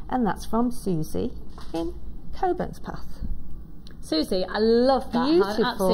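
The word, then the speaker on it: Cockburnspath: And this is 490, and this is from Susie, and Susie's from Cockburn's Path? Coburn's Path. Is that right? She said you pronounced Coburn's Path, there you go.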